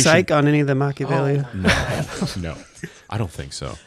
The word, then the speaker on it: Machiavelli: Didn't they pronounce it? It was Machiavelli.